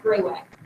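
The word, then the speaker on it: graywacke: way it looks but it is it just pronounced gray wack um this is found a lot of times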